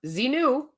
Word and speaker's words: Xenu: to pray to zenu Xenu see pronounced zinu he is the dictator